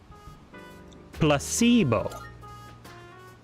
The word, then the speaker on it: placebo: that repeat after Meo the stress is on the middle Placebo very good you're figing